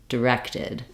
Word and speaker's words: directed: vowel sounds correct is by starting on the stress syllable and then just add that first syllable back that sounds like rected directed you can hear how it's almost like there's no vowel there it's almost kind of look like a little D sound D directed I'm really getting my length and my clarity in the second syllable uh then when we're